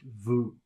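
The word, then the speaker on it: vous: that's spelled v-o-u-s but you don't pronounce the S it's just vu the next word is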